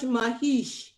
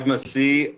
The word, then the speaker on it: Masih: Mahesh. Did I pronounce that right, or did I mess that up completely? Hey, that was close. Masih.